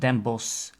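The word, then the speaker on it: Den Bosch: at the end and we don't pronounce the CH that means the pronunciation of them boss ends with just an S sound we have the famous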